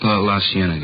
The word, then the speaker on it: La Cienega: Over on, that street out that way, La Cienega. Is that how you say it? La Cienega, yeah.